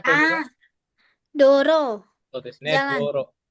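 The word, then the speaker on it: 道路: Berarti Misan bacanya apa Misan? Ah, Doro.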